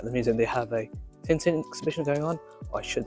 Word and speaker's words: Tintin: Museum they have a tinting exhibition going on I should say Tonto which is the French pronunciation um it's essentially a